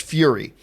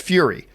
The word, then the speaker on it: Furya: for Riddick 4, and if you're wondering how to pronounce that, it's just Fury. It's pronounced Fury.